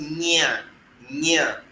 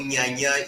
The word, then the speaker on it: Nyanya: But we have a place called Nyanya in the FCT, close to Abuja. So Nyanya is written Nyaa, Nyanya. It is Nya and Nya. So you can see the symbol is different from Nga.